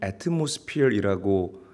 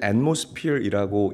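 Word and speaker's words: atmosphere: 단어를 여러분들이 아실 거예요 우리가 중고등학교 때 학교에서 배울 때는 애트모스피어이라고 읽고 발음을 했는데 사실은 엣모스필이라고 읽고 발음하는게 맞습니다 사전적인 의미는 지구 전체를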